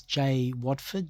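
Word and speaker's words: Jai Waeford: Okay, 31st of January 2019 was Jay Watford. Jay is spelled J-A-I. Watford is W-A-E-F-O-R-D.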